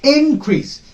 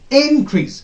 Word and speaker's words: increase: the same word here when increase is known as a noun when you pronounce it as increase when the first syllable is suppressed increase it is noun when the second syllable is stress increase it is